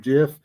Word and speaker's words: Jif: Except when we start talking about the correct pronunciation of Jif, it'll probably wake up.